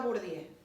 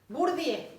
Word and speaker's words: Bourdieu: ¿Qué más agrega Bourdieu? Bourdieu, no Bourdieu, Bourdieu, Bourdieu, se escribe de una manera, pero se dice Bourdieu.